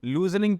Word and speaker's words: lose: अब बहुत सारे बच्चे इसको लूजनिंग पढ़ेंगे, थोड़ा सा अलग है, मैं बता देता हूँ। LOSE इसकी प्रोनाउंसिएशन होती है लूज।